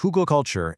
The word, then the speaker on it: Hugelkultur: It's pronounced huggal culture and it's German for hill culture.